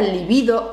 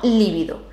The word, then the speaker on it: libido: Por cierto, y como paréntesis cultural, cuando hablamos del deseo sexual, la palabra libido es llana y se escribe con B alta, es decir, se pronuncia libido y no líbido. La pronunciación esdrújula como líbido es un error por